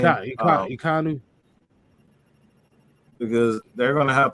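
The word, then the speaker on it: Ekwonu: Oh, Akeem Ikonu, not Ikonu. That's how you say his name. Ikonu.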